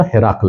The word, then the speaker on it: هرقل: متخصص است مشکل نیست ولی اصل درستش اگر کس خواسته باشه هرقل است پس به هرقل عظیم روم چی معنا